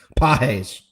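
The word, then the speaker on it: Pagés: And as far as freaking Pajes, I'm pretty sure that's how you say his name. You said JD. You have a beautiful accent. He had it right. He said Pajes.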